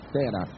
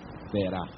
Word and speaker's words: Terá: Creio que se lembram que o nome de seu pai era Tera ou Terá. Ambas as pronúncias são legítimas. Talvez a mais perfeita seja Terá.